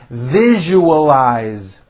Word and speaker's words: visualize: I value our friendship visualize four syllables V eyes visualiz can you visualize what